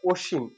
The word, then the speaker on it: অসীম: অসীম যদি কোনো ব্যক্তির নাম হয় তাহলে আমরা অসীম, ও ও দিয়ে উচ্চারণ করব।